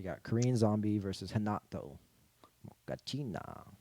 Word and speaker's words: Moicano: Mokachina. Moicano Moicano. is how you say his name.